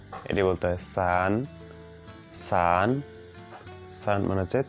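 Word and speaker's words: 四: তো আমরা যখন চায়নায় থাকবো তখন হচ্ছে এই স বলার সময় একটু সাবধানে স এর উচ্চারণ করব।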